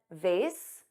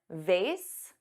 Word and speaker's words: vase: Both pronunciations, vase, which rhymes with face, and vase, which has an ah but a z sound, both are used in American English, which is interesting because vase is the American pronunciation and vase is the British pronunciation.